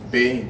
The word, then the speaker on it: Beyin: What's the the pronunciation? Benin or Bane? Bane.